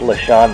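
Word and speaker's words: LeSean: Well, if you draft Sean McCoy, I don't think he's playing this year. I think it's LaShawn McCoy.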